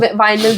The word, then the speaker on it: vinyl: The Winley, you are saying Winley Yeah, on the wall. vinyl record.